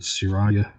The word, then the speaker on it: Siraya: Okay, there are resins called Siraya. I think it's how it's pronounced, Siraya Tech.